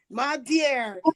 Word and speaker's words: Madiare: My dear.